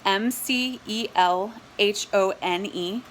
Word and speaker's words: McElhone: so it's my lastname McElhone it's MC e LH o n e MC e LH o n e at PDX edu and it's pronounced McElhone which doesn't sound a whole lot like it looks but that's what it